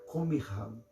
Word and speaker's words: Qumran: Era os judeus monges que moravam junto à cidade do sal, que nós hoje chamamos de Qumran, ou Qumran, na pronúncia hebraica, Qumran.